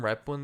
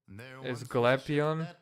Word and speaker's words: Glapion: I think Norm Rapon is in as well. No, it's Glapion. It's John Glapion.